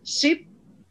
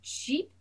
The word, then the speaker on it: sheep: If you bring it to the front of your mouth, Sheep. ship. Sheep.